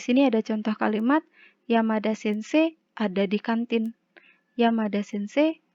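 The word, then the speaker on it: 先生: di kantin adalah Yamada Sensei wa kantin ni imas. Yamada Sensei wa kantin ni imas. Bisa ya? Dan kemudian ini ada kanji sensei. Ini cara bacanya adalah sensei. Ayo, dari pelajaran kita selama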